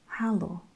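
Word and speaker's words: hallo: any time with anyone is halo so very similar to the english hello but the e in english is an a in dutch and you pronounce it halo hello okay so this is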